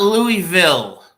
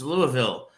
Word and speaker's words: Louisville: there who don't know how to pronounce Louisville it's not Louisville stop it it's Louisville yeah I can't disagree